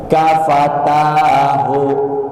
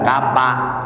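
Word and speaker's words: كفتاه: malam apa keutamaannya sama-sama Ikuti saya kafatahu kafatahu bukan kaapa Fa kafatahuah maka orang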